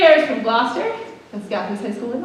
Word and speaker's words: Gloucester: This first piece is called 3 Airs from Gloucester, which is not how that looks on the program, but English pronunciation, right?